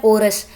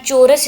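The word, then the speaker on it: chorus: अच्छा, ये वर्ड देखें, इसको कहते हैं कोरस। अब ये कोरस जो है ये सी एच तो च की आवाज़ देता है ना, चोरस इसको होना चाहिए था, बट ये कोरस प्रोनाउंस हो रहा है।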